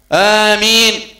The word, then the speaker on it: آمين: نبتدي ننطق نطقا سليما، آمين آمين الهمزة هنا فيها مقدار حركتين، آمين كثير من إخواننا يمدونها مد الطول أو مد الإشباع ست حركات، آمين والقي من قرن لا عندها مقدار حركتين فقط، آمين.